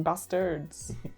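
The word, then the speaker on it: Basterds: At number 71, we have Scopa Renton Bastards. You can just say Glorious Bastards. You don't need to pronounce the E.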